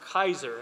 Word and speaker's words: Keyser: look at my name it looks like keyser but it's pronounced kaiser i mean i can't